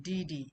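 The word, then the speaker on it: 弟弟: And di di is the uh fourth tone as well. So, you can see from the pronunciation di di.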